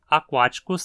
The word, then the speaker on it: aquaticus: Aquáticos termina em icus, então só pode ser proparoxítona.